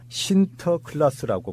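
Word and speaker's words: Sinterklaas: 그래서 이제 17세기 무렵에 네덜란드 사람이 아메리카로 이주한 뒤에 그런 네덜란드 발음으로 신터클라스라고 부르기 시작하다가 이것이 바로 이제 영어로 돼가지고 19세기경에 바로 산타클로스가 생긴 것입니다.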